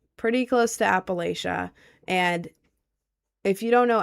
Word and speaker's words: Appalachia: You're saying it wrong. Appalachia.